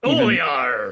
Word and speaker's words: Olear: It's Olear. It's just Olear. It's pronounced the same way.